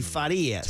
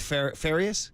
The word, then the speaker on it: Farias: Young, as we say good morning early at 6:18 in the morning to young Farias. Farias. Interestingly, you told us that that's the true pronunciation, but you don't go by that here in Gringo Land, do you?